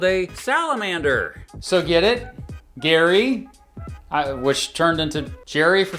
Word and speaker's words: Gerry: Gary, which turned into Jerry for some reason, plus salamander equals gerrymander?